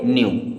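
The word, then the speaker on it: knew: कॉम क्या पढ़ेंगे कॉम के एन ई डब्लू के के बाद में एन आया तो के साइलेंट होगा इसे पढ़ेंगे न्यू क्या पढ़ना है न्यू डब्लू आर ए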